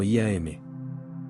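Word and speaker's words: YAM: Y m pronunciado como IAM.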